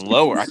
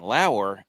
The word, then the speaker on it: Lower: And then turned out that was the wrong pronunciation. It's Lauer.